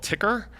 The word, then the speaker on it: tker: what's the name of that newsletter it's called ticker it's spelled t-k-e-r um you can find it at